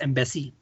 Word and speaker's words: EEMBC: और ये जो बेंचमार्क्स थे EEMBC प्रोनाउंस्ड एज एम्बेसी।